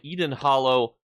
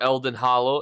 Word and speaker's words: Elden Hollow: Now, this comes from Eden Hollow 1 or Elden Hollow, if you want to pronounce it correctly.